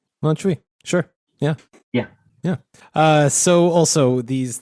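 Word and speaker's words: Montjuïc: Montjuich? Montjuich.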